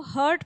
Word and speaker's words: heart: सो हर्ट इज़ a very very wrong pronunciation of the term हार्ट। इट इज़ हार्ट। Please open your mouth and speak हार्ट।